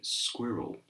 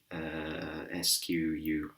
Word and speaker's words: squirrel: And this animal is a squirrel. Squirrel. Now, looking at it, SQUIRREL, but it's not squirrel, but it's more squirrel.